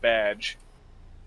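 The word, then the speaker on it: B'dg: the squirrel green lantern you're thinking of badge is it is it badge yeah but it's spelled bdg is it yeah i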